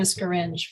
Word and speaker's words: Scaringe: thank you thank you so next is excuse my mispronounciation please uh state your name and your affiliation for the record you may need to unmute on your end good afternoon scaringe for the center for biological diversity with thanks